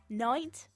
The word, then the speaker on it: knight: a k um they like a silent k in some things Knight Knight yeah that's got a